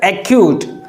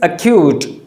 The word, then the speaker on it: acute: but it is acute there is stress or emphasis on the sound q and therefore the correct pronunciation is acute acute is correct acute